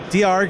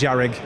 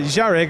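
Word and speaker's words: Dearg: Diarg is how everyone thought it was pronounced. It's Irish for red. I informed them on Friday morning it's pronounced Jarig.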